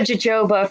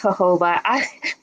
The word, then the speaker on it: jojoba: I I'm very white I said Joba for a long time but I think is hoba please anybody out there